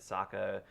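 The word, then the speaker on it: Sokka: is talking about it Saka it rhymes with AKA like there's a lot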